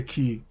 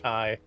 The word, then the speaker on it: Ky: have a just Moon good girl it is pronounced butterface I think Moon good girl look KY probably yes it's key not Kai oh sorry I like calling him KY kis